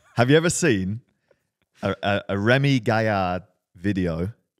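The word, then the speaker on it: Rémi Gaillard: A Remy Gaillard video, that's my French pronunciation, Remy Gaillard.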